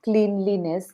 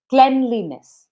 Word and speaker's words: cleanliness: So it is not cleanliness, it is cleanliness.